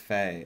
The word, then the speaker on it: Fee: It's pronounced Faye. F-E is pronounced Faye.